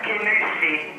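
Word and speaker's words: Kingussie: McIntosh from Kingusi. It's Kinusella, pronounced Kinusi.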